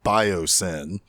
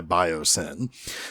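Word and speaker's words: Biosyn: oh by the way this company's name biosin now it's spelled b-i-o-s-y-n but come on guys sin is in their name so they want to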